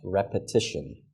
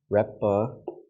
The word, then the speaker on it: repetition: If you listen to the pronunciation of an American, you'll actually hear more of an eh sound than an ah.